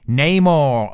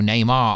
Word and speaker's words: Namor: But it is interesting because before this, everyone was confirming Namor, or Neymar, I say it wrong to trigger you guys and you always fall for it.